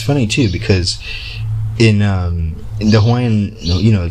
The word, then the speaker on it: Hawaii: And it's funny too, because in the Hawaiian, you know, to Hawaiians, right, it's pronounced Hawaii with a V sound, right?